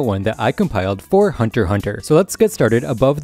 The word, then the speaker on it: Hunter x Hunter: issues next up is the x being silent again also self-explanatory all of the exes you see in hunter hunter titles or episode names are just silent you don't pronounce them this is because in universe the x is symbolic of a space next we have movies